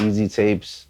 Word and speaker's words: EASYTAPEZ: EAST, not East, Easy. EASYTAPEZ. Not EAZY, EASY, like Easy Tapes with a Z at the end though.